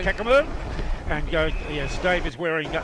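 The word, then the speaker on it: Caccamo: How would you pronounce that? Kakamo. Kakamo.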